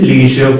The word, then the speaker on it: leisure: The Bridge Hostel has excellent leisure facilities. Leisure facilities, again it is ja as a pronunciation.